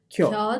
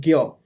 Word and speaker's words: 곁: 겨, Kyo with the Y. 곁, Kyo. 곁에, Kyote. 곁에, Gyo. 곁에. Okay, it's K but it's Gyo. It's not Kyo. It's not 겨, it's 겨. Gyo.